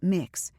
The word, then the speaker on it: Mx: and the UK recognizes MX, pronounced mix, as a genderneutral title.